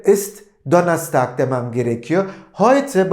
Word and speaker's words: Heute: Şimdi ben bugün günlerden Perşembe dediğimde Heute ist Donnerstag demem gerekiyor. Heute bakın EU nasıl ifade ediliyordu? Nasıl telaffuz ediliyordu? Ay şeklinde. Dolayısıyla bugün günlerden Perşembe dediğimde Heute ist Donnerstag demem gerekiyor.